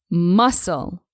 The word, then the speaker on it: muscle: following word is pronounced muscle here just like in the word Island you'll have to drop the consonant s you should always say muscle muscle and not MUSC